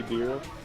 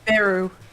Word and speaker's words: Beru: Hey, Beer. Yeah. Oh, what were you saying? Beer. Beer? Yeah, that's your name, right? Beer? Beru. Beru, sorry. Yeah, it's literally the Japanese pronunciation for bell, so it's Beru.